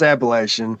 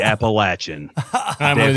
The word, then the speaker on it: Appalachian: Appalachian intelligence operation intelligence you said it right it's Appalachian don't listen to him definitely Appalachian I'm with you brother the